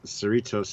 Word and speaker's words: Cerritos: So everybody's like, just think of Doritos.